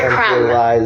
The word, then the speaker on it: crumb: Look at the word crumb. The B is silent.